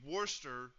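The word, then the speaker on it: Worcester: You can't tell me Worster looks exactly how it sounds.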